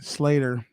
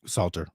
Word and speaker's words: Salter: First, Aaron Slater, 55, former police lieutenant. Salter.